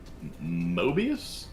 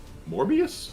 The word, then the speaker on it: Morbius: i know his name mobius mobius no that's the strips what the mobius strip morbius morbius yeah there you go mind control mineshield